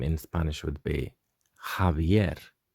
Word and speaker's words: Javier: peculiar very specific name in spanish would be javier javier javier so you can see this h is pronounced a bit like with a bit of